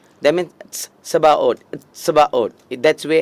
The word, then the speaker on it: Sabaoth: In Latin, they have written Sebaot. Latin மொழியில் பார்க்கும் பொழுது செபாஓத் என்று சொல்லப்படுகிறது. In Hebrew, எபிரேய மொழியில் they have written, you have to make that sound T. That means Sebaot.